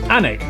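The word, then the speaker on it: Alnwick: in quernmore qumer before finishing up in alwick anik which is near Newcastle ority when will they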